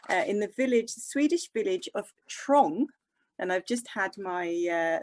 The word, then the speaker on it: Trång: The same factory is there in the Swedish village of Trång. And I've just had my Swedish friend confirm the pronunciation, but that's spelled T-R-A with a little dot over it, N-G.